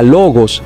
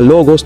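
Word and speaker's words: λόγος: por ejemplo la palabra logos es una palabra paroxítona que cuenta en el caso nominativo con un acento en la penúltima sílaba la palabra logos tiene dos sílabas lo y gos para estas palabras la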